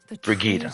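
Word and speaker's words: Brigitta: And we pronounce it Brigita.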